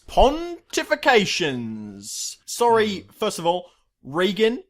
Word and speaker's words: Regan: Sorry, first of all, Regan is how you pronounce his name, not Reagan.